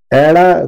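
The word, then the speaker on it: ਐੜਾ: एड़ा कुछ इस तरह से लिखा जाता है। इसको पंजाबी भाषा में हम कहते हैं एड़ा।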